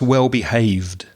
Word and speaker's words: well-behaved: you said well behaved so there's no extra syllable with that Ed ending after the the V sound so it's just well behaved well-behaved but can I